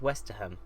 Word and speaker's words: Westerham: think it's actually pronounced Westerham like you actually pronounce the H I'm not used to